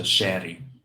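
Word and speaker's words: Chery: the Brazilian one is a shaty spelled like Cherry with one R um it's a it's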